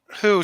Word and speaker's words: Hu: this is uh is this the new Doctor Who or I mean not newest no her name is Dr zenar Who oh okay who who spelled hu ah well it was kind of